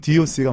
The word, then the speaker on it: DOC: 원래 DJ DOC였다고 했는데 그걸 처음에 누가 이제 덕으로 읽으면서 뭐 본인들도 덕이라고 할 때도 있었지만 그래서 이제 그 한때 9세대는 덕이라고 읽고 신세대는 DOC라고 읽는다 이런 말도 있었고 예. 공식적으로는 DOC가 맞습니다. 그렇군요.